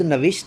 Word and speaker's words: نوشت: اور خود نوشت جو ہوگی, خود نوشت کے اسپیلنگ بنیں گے خود تو خے واو دال, اور نوشت کے نون واو شین تے, نون کے نیچے زیر آ جائے گی, نوشت.